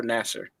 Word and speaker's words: Nasser: Is his name pronounced Nasir or Nasser? Nasser. Okay. No, if it were Nasir, it'd be with an I.